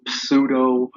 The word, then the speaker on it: pseudo: known as pseudo code spelled with a PSP you do sudo if you want to pronounce it I pronounce it that